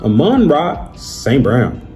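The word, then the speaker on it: Amon-Ra St. Brown: Nonetheless, Aman Rock St. Brown.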